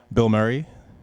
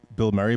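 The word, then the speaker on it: Bilmuri: Um, the band is called Bill Murray, but it's spelled B I L M U R I.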